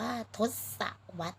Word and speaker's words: ทศวรรษ: รถ Swatch นะ คะ คำ นี้ อ่าน ว่า ทศวรรษ นะ คะ พี่ บิ๊ก เขต 5 ภาษา อังกฤษ